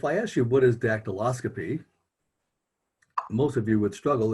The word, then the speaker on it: dactyloscopy: multi-syllabic words if i ask you what is dactyloscopy most of you would struggle if you just